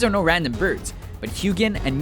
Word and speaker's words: Huginn: These are no random birds, but Huginn and Muninn (pronounced with a y sound, like "Hyoo-ginn and Myoo-ninn"), the ravens from Norse mythology that gather information from Earth, and return it to Odin in Asgard.